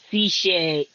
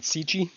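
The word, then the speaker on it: SICCE: Siche is how you say it. Is it? Not Sichi?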